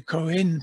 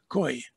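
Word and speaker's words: Khoe: San people and the Koen people. I understand that is now the correct pronunciation of the name that was used to be pronounced Koi.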